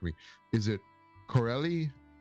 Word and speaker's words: Carolei: celebrating Cubby Broccoli's heritage I'm probably going to mispronounce this. I apologize. So please correct me. Is it Corelli? Carolei.